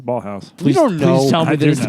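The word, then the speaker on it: Ballhaus: was so well composed sh by Michael Ball ballhouse who is one of scorsese's most frequent collaborators I'm sorry ballhouse you're saying that weird you must be saying that weird ball housee spell it yeah b a l l h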